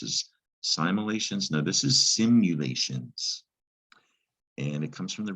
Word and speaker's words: simulations: simulations now this is simulations and it comes from the root simulate and the unusual thing about this word is you actually say you when you pronounce that you send you late that's also a